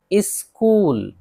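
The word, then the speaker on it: school: जैसे मिसाल देख लेते हैं सबकी, स्कूल एच है नहीं पढ़ रहे हैं, स्कूल मदरसा।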